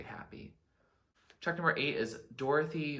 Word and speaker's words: Dorothea: chalk number eight is dorothy or dorathia i don't know like it can be pronounced either way sometimes so let's see